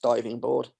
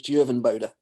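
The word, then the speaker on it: Duijvenbode: and I was like, please let that be pronounced diving board. And it wasn't. It was Djuvenbode.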